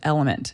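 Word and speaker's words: LMNT: that I love to do this is with element it's spelled l m NT and by looking at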